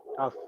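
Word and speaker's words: ταυ: Tough. Tough. Yes. Tough. What matters? Sound like English. Tough, like firm.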